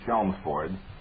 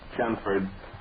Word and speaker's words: Chelmsford: And the only person I have ever heard pronounce L in that name was Winston Churchill, and he was referring to Chelmsford, England. But if they pronounce it Chelmsford up there, then we'll pronounce the L's. But honestly, when I say that, I've never heard anybody pronounce the L's in Chelmsford.